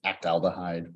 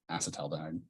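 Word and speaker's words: acetaldehyde: alide or acet alide it's that one that looks like it should be pronounced act alide but it's not acting out anything it's acet alide acetal dhide reacts with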